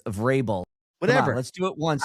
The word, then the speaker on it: Vrabel: It's not variable. It's Vrabel.